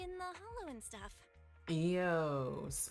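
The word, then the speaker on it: Eous: Eios. Okay, so that's how they're pronouncing it.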